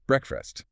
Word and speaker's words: breakfast: You shouldn't hear that long A sound like in make or take. Not at all. So quick and short. Breakfast. Quick, short, and that fast part is almost an afterthought. Breakfast. Stress is on break.